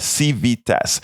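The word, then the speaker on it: Civitas: of Civic leadership the university will appoint it is spelled c-i-v-i-t-a-s CV test c-i-v-i-t-a-s Miss Alistair all right uh it will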